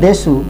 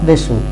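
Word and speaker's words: です: It is actually written desu but pronounced as des, D-E-S, des, not desu, des, pronounced as des.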